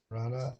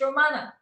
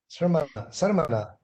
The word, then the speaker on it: Sramana: So I have one small question, Rana, is that yes. What do you generally think about? Sonal, you have to learn to pronounce my name. It's Romana. Sarmana. Yes, there we go. Okay. Sramana.